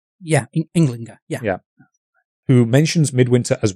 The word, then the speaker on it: Ynglinga: Is that how it's pronounced? Ynglinga, yeah.